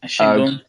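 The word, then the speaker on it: Şengün: Of the three guys, I have no idea how to pronounce his name, but Sengun. Shingun.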